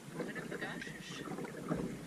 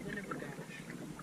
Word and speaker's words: Winnibigoshish: I am now on Lake Winnie, short for Lake Winnibigoshish. My dad keeps saying Winnibigosh, and I'm like, there is an ish on the end of that. There's an ish.